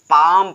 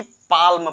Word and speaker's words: palm: जैसे हमने यहाँ पर एग्जांपल लिया कि PALM, ये यल जो है साइलेंट हो जाएगा, इसको हम पढ़ेंगे पाम पढ़ेंगे। क्या पढ़ेंगे, पाम पढ़ेंगे, ना कि पाल्म पढ़ेंगे, पाम केवल पढ़ेंगे।